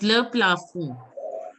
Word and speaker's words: le plafond: Le What? plafond. Yes, le plafond. D is not to be Okay.